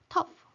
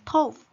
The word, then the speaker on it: tough: For example, tough. I thought that pronunciation is tough, so I wrote that T plus diphthong O and F. But the exact pronunciation is tough, that is T plus wedge plus F.